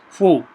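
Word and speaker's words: 蝠: The pronunciation of bat in Chinese is fu, the same as that of blessing.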